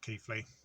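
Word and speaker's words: Keighley: i'm in keithley now it's about keely but i think it's pronounced keithley it's not far from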